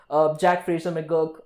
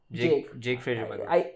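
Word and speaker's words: Jake Fraser-McGurk: Jack Fraser McGurk, I keep pronouncing his name wrong. Jake Fraser McGurk.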